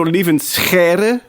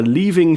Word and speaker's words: Lieven: So leave in that's the name. It's the typical sound in Dutch.